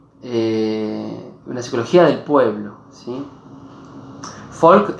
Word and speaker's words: Volk: Folk es Volk, se escribe con B corta, fonéticamente se suena como F, es el inicio de la palabra, como sabrán, Volkswagen en realidad, que Wagen es auto y Folk es pueblo.